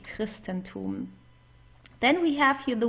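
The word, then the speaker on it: Christentum: We would pronounce it as a K. Christristenum.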